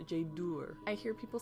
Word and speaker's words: Jaydür: make the ooh sound so it's Jade or I hear people say Tjader it's not Tjader it's Jade or or